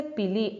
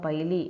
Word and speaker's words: pili: protection the next is a pili or piley anyway you can pronounce it says short a small